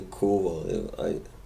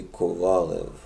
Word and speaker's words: Kovalev: so you notice that I don't say Kovalev, because that's the American pronunciation, and I'm not American, obviously. Where I'm from, we say Kovalev. I don't really know how they say it in Russia, but I wouldn't think they say it quite like you Yanks do it, Kovalev.